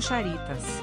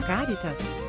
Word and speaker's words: Charitas: Alguns estudiosos defendem que, apesar da pronúncia popular do nome da praia soar como Charitas e ser tomada como uma paroxítona, na verdade a palavra é latina e por isso deveria ser pronunciada Caritas, como proparoxítona.